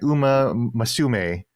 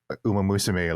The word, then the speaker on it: Uma Musume: I did hear this, when Jeff Keighley pronounced Uma Musume, he was like Uma Masume, and I'm Mm-hmm. like, Jeff, you hang out with so much Japanese people. You've been to Japan so many times, and you still can't like pronounce Uma Musume like a normal person.